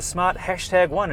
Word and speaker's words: Smart #1: And that's what they've done here with the Smart #1. And yes, you do pronounce the word hashtag.